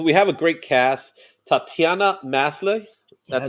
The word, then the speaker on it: Tatiana Maslany: Tatiana Maslany.